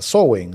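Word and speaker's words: Samhain: Antes en el esoterismo occidental de Europa, eso era Soen, ¿no? Samheim, como se escribe, que tiene que ver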